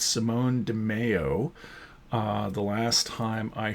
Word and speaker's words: Simone Di Meo: by Josh Williamson and I mispronounced his name it's Simone de Mayo uh the last time